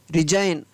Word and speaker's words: resign: रिजाइन, RESIGN रिजाइन।